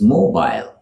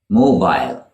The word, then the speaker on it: mobile: Our next word is mobile, mobile with a long I sound at the end, almost like aisle, mobile. Now that is the British pronunciation of this word. It is shortened in American English and pronounced mobile, mobile, mobile versus mobile.